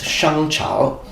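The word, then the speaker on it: 商朝: to the Xiang dynasty, which in Chinese would be pronounced Shangchao, and they are oracle bone script.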